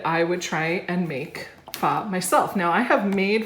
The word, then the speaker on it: pho: Now, pho is spelled P-H-O, it's pronounced pho, but it looks like pho.